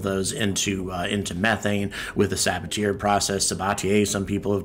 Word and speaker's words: Sabatier: There's one way to properly pronounce that name. Sabatier. Sabatier. The name Sabatier. If you've heard it pronounced differently somewhere else, they were wrong too.